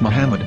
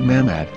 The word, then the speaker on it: Muhammad: a after the H according to Ben yehuda's Hebrew English dictionary it is correctly pronounced as Muhammad not mammad so how we're going